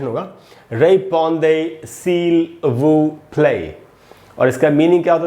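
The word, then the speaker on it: répondez s'il vous plaît: तो कुल मिला के एक साथ इसका प्रोनाउंसिएशन होगा रेपॉन्दे सील वू प्ले।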